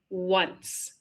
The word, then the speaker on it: once: Although the W is not always represented by the letter W as seen in the very first sentence, the word once. The second word is H. It starts with an O but it has the W sound.